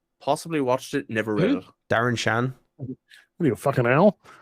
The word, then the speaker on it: Darren Shan: they were good sounds familiar did you read Darren Chan possibly watched it never really Darren Shan I need a owl ocean